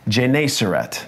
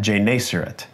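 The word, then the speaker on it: Gennesaret: God he was standing by the lake of jerat that's how you pronounce that jerat verse two and he saw two boats by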